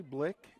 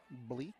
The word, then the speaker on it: Blee: two strikes one out Bentley Blick is down at first one misses It's Full Count blee is the way you pronounce it thank you Full Count